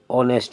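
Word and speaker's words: honest: है हार एन हार ऑनेस्ट मैन एन ऑनेस्ट मैन H silent हो गया ना और होटल एन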